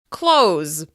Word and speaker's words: close: Let's try another one: close. Even though the word contains the letter "s," it actually sounds like the /z/ sound: close. The plural is closes, closes, closes.